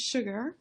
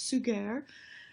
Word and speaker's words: Suger: the abbot Abbot suger looks like his name is sugar but it's actually pronounced suger and he was really